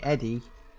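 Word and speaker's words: ED-E: And we've got to go up to the 15th to get Eddie.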